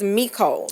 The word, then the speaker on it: Micole: Micole gave it a 10.